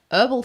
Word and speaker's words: herbal: Leather, plum, orange peel, almond, clove, herbal spice. Oh, wow. Herbal spice. I'm Australian. We pronounce the H.